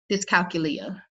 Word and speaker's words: dyscalculia: I'm gonna try to pronounce this one, y'all. Don't judge me. Dyscalculia. It's Dyscalculia.